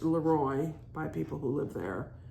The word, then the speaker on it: Leroy: And it is pronounced Leroy by people who live there, not Leroy.